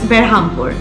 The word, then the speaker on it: Berhampur: the nearest station is berhampur or brahmapur the localites pronounce it as berhampur the distance from bhubaneshwar